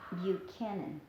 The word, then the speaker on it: Buchanan: debutante Daisy which man Buchanan you can give you cannon you can even though it's a CH you pronounce it as a see you can consider it